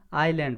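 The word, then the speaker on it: island: इसमें है ना, आईलैंड पढ़ेंगे, एस साइलेंट होता है, तो आई, आईलैंड आ रहा है, तो क्या भरेंगे?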